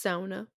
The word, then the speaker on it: sauna: to them but i'd just be like it's sauna it sounds um i would just say it